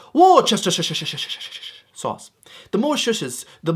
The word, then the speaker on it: Worcestershire: You might see this and you'll try and pronounce it. It's Worcestershire sauce.